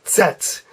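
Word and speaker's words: Z: the last letter is set and it's like I'm going to set the table but there's also a T sound in front of it so you put a little T right before their sets sets okay very good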